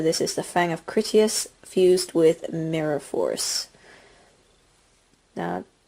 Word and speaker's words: Critias: Courteous? Critias. I keep pronouncing his name wrong. It's Critias.